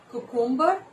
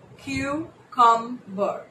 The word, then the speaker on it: cucumber: Cucumber? That's the common pronunciation, right? That is incorrect. So the right pronunciation for this word is cucumber, which has three syllables, cucumber, and not cucumber.